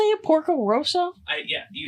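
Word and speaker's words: Porco Rosso: next week por how do you say it Porco Roso I yeah you said it perfectly Porco R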